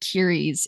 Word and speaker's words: Keres: Oh, I pronounce it Kiris. It's Kiris.